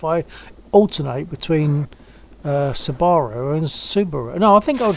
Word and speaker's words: Subaru: I say Subaru and Subaru, but I don't say it like they lax in chat. That's how some people say it, and it's flippin' annoying.